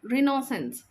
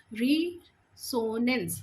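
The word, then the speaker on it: resonance: होगा answer number D, रिनोसेंस। रिसोनेंस, sorry I have प्रोनाउंस्ड mistakenly. रिसोनेंस इसका सही वर्ड है, स्पेल्ड है आप बोल सकते हैं, या फिर प्रोनाउंसिएशन है रिसोनेंस।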